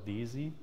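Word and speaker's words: DESY: have heard the word easy before it's not pronounced daisy but deutsches electron and zunkrotron so it's called daisy and like these large physics institutes are it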